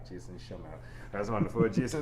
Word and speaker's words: Schemmel: Did I do it correctly? I like to make sure names are pronounced. Yep. correct. Yep. Jason Schemmel. You said it different. Schemmel. Yes. There we go. Jason Schemmel.